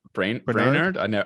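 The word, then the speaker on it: Brainard: So Lael Brainerd, is that how you pronounce her surname? Yeah, Brainerd. Brainerd.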